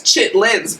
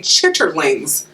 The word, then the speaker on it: chitterlings: Well, that's chitlins, but it's actually chitterlings. So it's chitterlings.